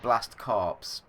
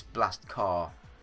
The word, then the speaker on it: Blast Corps: in but yeah so I would call it blast corpse um but I think it's blast car and is just a weird weird americanism thing that I just don't